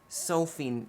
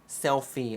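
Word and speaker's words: Selphie: I said Sophie and on Final Fantas self selfie. Oh, I said her name wrong. I love her. I'm so sorry, Selfie.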